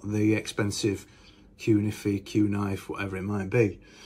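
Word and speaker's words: Cunife: The original version was bigger than the normal humbucker, and they had these pole pieces, which I always get this name wrong. I always call it Q-knife, but it's Q-niffy.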